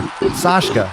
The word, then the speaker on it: Sashka: Sashka. That's what you pronounce it.